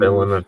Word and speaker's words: Villeneuve: was the guy who did Dune, Denis Villain Villeneuve. of You or whoever. Okay. Yeah, Pretty what sure it's Tyler pronounced just Denis said.